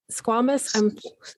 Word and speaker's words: squamous: some type of, it was a stage 4 squamous. Is that how you pronounce it?